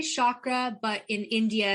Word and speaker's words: chakra: relationship to yoga totally so uh i say chakra but in india it's like chakra but i'm not indian and it just feels better for me to say chakra but so but the proper pronunciation is chakra and it means in sanskrit means wheel so